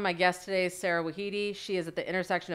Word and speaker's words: Wahedi: And I'm Sara Wahedi, and the proper pronunciation is Sara Wahedi.